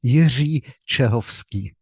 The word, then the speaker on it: Jiri Cehovsky: How would you say your name in Czech, just so we can hear it correctly? So my name is Jiri Cehovsky.